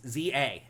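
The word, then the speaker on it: Z-A: I've learned the right way to say the name from the TV commercial. It's Pokemon Legends ZA.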